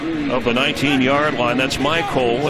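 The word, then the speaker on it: Mycole: That's Michael. It's spelled M-Y-C-O-L-E.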